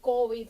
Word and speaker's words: COVID: COVID, el COVID, porque COVID, o sea, sí, la sí. pronunciación cambia, sobre todo en el español caribeño, se acentúa como palabra aguda.